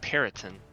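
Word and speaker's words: Pryton: I think it's like Periton. P-E-R-Y. Oh, I was thinking Puritan, like Oh, Mayflower.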